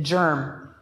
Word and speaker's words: GIRM: funny an acronym and we pronounce it germ and you will remember